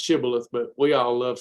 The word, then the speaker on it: Shibboleth: practical sustainable and fun lifestyle that we call shabola actually it's pronounced shibboleth but we all love saying shibola so that's what we'll do uh but uh